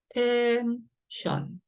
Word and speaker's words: 텐션: 이 연태까지 지금처럼 그대로 뒤에가 지금 또 자음 N이 붙어 있으니까 얘도 션이라는 얘기고요. 그대로 자음 모음 한 세트 얘는 따로 읽어라 이 얘기네요. 네, 그대로 읽어볼게요. 텐션. 텐션이네요.